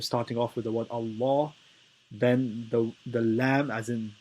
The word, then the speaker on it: Allah: the light lamb and the ruling is that if there is a father or a bomber before the word allah then then the lamb is heavy otherwise it is light so it is pronounced